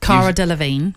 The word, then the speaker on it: Cara Delevingne: How you pronounce the name, Nat? Cara Delevingne.